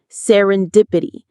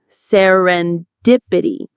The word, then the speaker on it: serendipity: Serendipity. The stress is on dip. Serendipity.